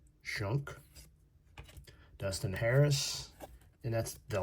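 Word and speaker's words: Schunk: Of course, it's spelled different. Aaron Skunk. Shunk.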